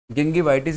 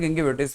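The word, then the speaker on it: gingivitis: उसे हम कहते हैं गिंगिवाइटिस भी कहते हैं, गिंगिविटिस भी कहते हैं। तो दोनों प्रोनाउंसिएशन इसके ध्यान रखना।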